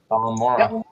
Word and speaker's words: Balmora: How it's pronounced is Balmora.